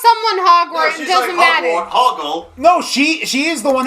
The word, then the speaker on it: Hoggle: No, his name is not Hogwarts. It's Hoggle.